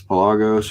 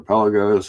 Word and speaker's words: Pelagos: So, now it just says Pelagos or Pelos, however you want to pronounce it, master chronometer and